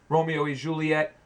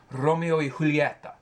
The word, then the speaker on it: Romeo y Julieta: Please learn how to say Cohiba, Romeo y Juliet. Oh, yeah, right. Romeo y Julieta.